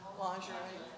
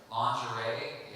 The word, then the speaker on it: lingerie: Lingerie, How do you say it? lingerie. Lingerie, yeah, that's how it's spelled. You know how it's pronounced in French? Lingerie.